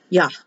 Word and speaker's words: Yah: When they double the H, it's pronounced harder. Yah.